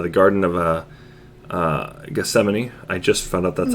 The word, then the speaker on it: Gethsemane: said was uh the garden of uh uh gethsemane i just found out that's actually how it's supposed to be pronounced i was mentioned which was where jesus